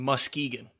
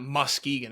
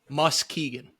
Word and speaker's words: Muskegon: It's Muskegon. How was I saying it? You're saying Muskegon. It's not Muskegon. It's Muskegon. I mean, it's spelled Musk-Egan. Yeah, but you're putting so much emphasis on that K and the U. It's annoying.